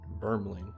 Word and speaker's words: Vermling: Vermling.